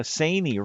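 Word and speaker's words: Saini: Angela Sanei rhymes with insane.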